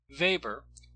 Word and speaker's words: Weber: Weber, notice that I pronounced the first letter of his last name as a V and not a W, lived in the late 19th and early 20th centuries.